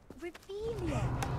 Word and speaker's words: Revelio: Revelius. You're saying it wrong. Ugh, Revelio. Much better.